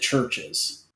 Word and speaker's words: Chvrches: do anyway yeah because you still pronounce it churches ches ch New Gen